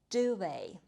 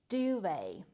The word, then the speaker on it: duvet: The last item on the list is a duvet. Let's say it together. Duvet. On cold nights, I like to sleep under a warm duvet. In American English, people pronounce this word differently. They say duvet.